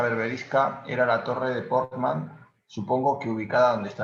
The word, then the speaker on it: Portman: Perdón que me interrumpa, es que la forma de pronunciar Portman, ya que, o sea, es que mi padre escribió también un libro sobre este pueblo, es Portman, que viene de Portus Magnus. Y no viene de Portman de Puerto de Hombres, sino de Portman de Portus Magnus. Entonces hay que pronunciarlo con el acento agudo.